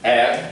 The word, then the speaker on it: R: So R, you can pronounce it as air, that's the original sound, air, as if you're gargling, air.